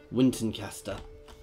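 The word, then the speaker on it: Wintanceaster: How is it pronounced in this? Yeah, Wintoncaster.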